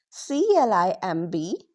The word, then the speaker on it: climb: subtle L M lamb B O M Bomb C L I M B climb last M pronounce.